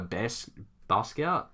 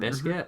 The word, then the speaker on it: Basquiat: Like, especially art now, I definitely follow Basquiat, I think is how you say his name, Basquiat.